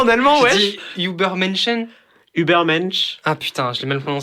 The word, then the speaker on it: Übermensch: Moi, clairement, il le voit comme the Übermenschen en allemand.